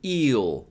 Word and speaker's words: い: E is pronounced like E in eel. You have to be careful here because in eel, it's a long vowel, eel, whereas in Japanese, it's a short one, E.